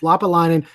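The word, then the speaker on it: Lappalainen: Lassi Lapalainen. Lapalainen. I had to watch the Montreal highlight video a few times, but it's Lapalainen.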